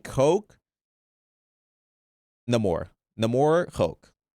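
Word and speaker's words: Namor: Uh, you're making fun of how I pronounce Nemore. That's how you pronounce it, buddy. Not Neyore.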